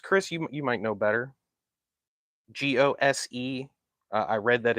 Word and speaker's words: Gose: Yeah, I believe it's pronounced ghost. Chris, you might know better. Gose.